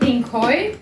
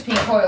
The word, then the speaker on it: Pinkoi: Yeah, it's called Pinkoi. Pinkoi? How do you spell that?